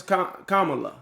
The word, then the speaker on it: Kamala: I mispronounced it too. Yeah, I think a lot of people did, man. It's Kamala.